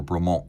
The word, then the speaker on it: Bremont: you pronounce the name is it braymont or bremont well technically it's bremont because bremont so the legend goes was a French farmer and Nick and Giles English who founded the braymont company landed their vintage